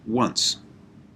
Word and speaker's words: once: is the word once which is spelt like this o n c e but i look at that and think if i was just if i was to say that as i as i said it would be ansi and if i was to